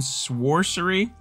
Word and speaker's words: Sworcery: more super brothers sword and sworsary i don't think it's sorcery i'm pretty sure sorcery doesn't have a w but i actually know the name of the game or at least how to pronounce it so last episode